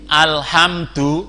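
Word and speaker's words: الحمد: yang baca alhamdulillah itu belum benar yang betul al-hamdu bukan Do tapi dzuhur hai tuh tadi itu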